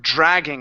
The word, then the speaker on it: dragging: Let's go to the word dragging. Instead of dragging, it's dr with a J sound at the beginning.